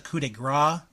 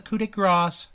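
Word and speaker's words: coup de grâce: Balor wins with the coup de Gras not the coup de cross the coup de Gras learn it learn to say it right mm-hmm C plus C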